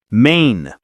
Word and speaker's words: Maine: Easy one. Maine. One syllable, long a.